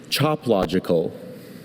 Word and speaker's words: choplogical: Choplogical. Choplogical. Are there any alternate pronunciations? I have just the one pronunciation, choplogical.